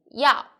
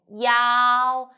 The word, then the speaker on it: 要: i'm sunny the word of the day is yao in this video i will teach you how to pronounce it how to write it and how